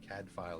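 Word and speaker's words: Cadfael: stuff like that and that's spelled c-a-d-f-a-e-l cad file it's welsh for battle prince oh my my favorite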